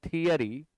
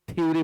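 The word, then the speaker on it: theory: बहुत सारे लोग थ्योरी पढ़ते हैं, गलत प्रोनाउंसिएशन है यह। आप कभी भी थ्योरी ना पढ़ें, इट इज थियरी। थियरी, सारे लोग थ्योरी पढ़ते हैं, गलत करते हैं। इसको आप पढ़ें थियरी।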